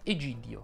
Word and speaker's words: Egidio: Sei in buona compagnia, Davide, perché anche Federica ed Egidio hanno la I tonica, quindi tutte le loro E sono chiuse. Federica ed Egidio.